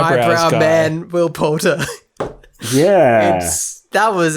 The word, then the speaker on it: Poulter: Will Potter. Will Poulter.